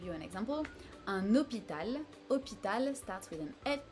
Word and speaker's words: hôpital: After "g", we have "h", is super easy in French because it's just absent, you do not pronounce it at all, it's silent.